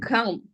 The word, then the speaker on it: calm: Yeah, that this pronunciation is calm. Calm. So L is not pronounced.